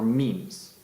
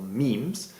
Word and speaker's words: meme: us the word mime, but he shortened it to make it rhyme with gene. For Dawkins, a great many things could be units of cultural inheritance, or memes, from a tune being